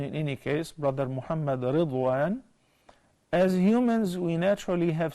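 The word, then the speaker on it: رضوان: And Ridwan is the name of the God of Al-Jannah. And it is best to pronounce it as Ridwan, not Rizwan.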